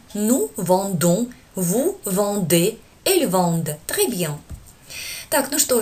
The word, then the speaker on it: vendent: Не пугайтесь, это как пишется. А теперь мы читаем как нужно. Je vends, tu vends, ils vendent, nous vendons, vous vendez, elles vendent.